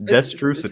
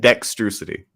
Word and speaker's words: Destrucity: Eddie, you've been saying it wrong this entire time. It's destrucity. Say it. Get it right. That's what I said. You said dexterity.